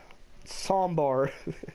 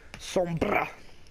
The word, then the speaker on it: Sombra: Sombar. Soundwave. You gotta roll your R's, babe. Sombra.